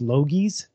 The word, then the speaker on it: Logies: I think it's pronounced Logies.